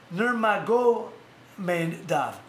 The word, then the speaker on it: Nurmagomedov: I'm gonna say this phonetically. Nurmagomedov.